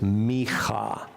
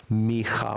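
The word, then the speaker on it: מיכה: This comes from a prophet in the Bible, and the name is Micha. Micha, which in English becomes pronounced Micah, but Micha is a prophet, lives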